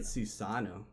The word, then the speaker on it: Susanoo: new I think about how you pronounce asado I get Susanoo okay because there's only one according to my Japanese follow that's it so you get a